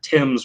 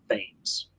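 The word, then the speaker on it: Thames: is a well-known word that is pronounced tim's not veins yeah so it's definitely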